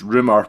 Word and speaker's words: RMR: It's RMR pronounced rumor by the way, Ryan Marshall, our friend, architect extraordinaire, and he has been in Faul for 5 years now.